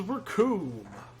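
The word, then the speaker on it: Recoome: The name's Raccoon. It rhymes with doom.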